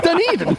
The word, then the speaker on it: Dunedin: It's Dunedin.